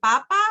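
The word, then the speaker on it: papá: you know it's funny you have to put the accent on the end because actually Papa without an accent if you put the emphasis here it actually means potato so you'd be saying I'm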